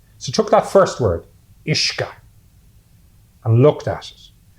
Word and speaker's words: Uisce: So took that first word, Uisce, and looked at it. And phonetically, if you don't know how to pronounce it, and you look at the word U-I-S-C-E, you might pronounce it Iski.